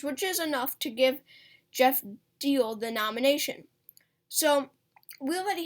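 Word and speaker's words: Diehl: and then we have jeff deal that's how you pronounce his name jeff deal running um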